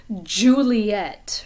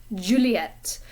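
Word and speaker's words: Juliette: out of your mouth juliet in french it's a different kind of sound it's just like the sound that comes in the middle of the word pleasure or garage if you pronounce it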